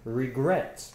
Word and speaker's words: regret: last of us about regret exactly regret has two syllables regret this dress is on gret the last one and it ends consonant